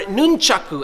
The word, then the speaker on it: nunchaku: So in today's video, I'm gonna show you how to use the nunchucks, or nunchaku as it's actually pronounced in Japanese.